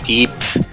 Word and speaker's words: yips: It's like called yips. Y-I-P-S. It was capitalized in the sub, and they also just pronounce it as yeeps.